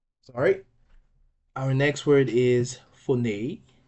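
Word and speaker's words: φωνή: So the pronunciation will be phone, phone.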